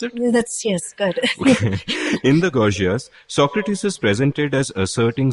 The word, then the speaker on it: Gorgias: Start quote, in the Gorgias, is that the right way to pronounce it? Yes, good. In the Gorgias, Socrates is presented as asserting something so radical that his hearers think it has to be a joke.